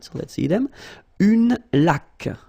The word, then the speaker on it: laque: Une laque. Remember the rule when you get this QU, well, U is not pronounced, so you get k like that. Une laque.